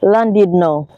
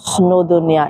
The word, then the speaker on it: Llandudno: I'm here in Llandudno. Oh my gosh, believe me, I had to check Google for that pronunciation.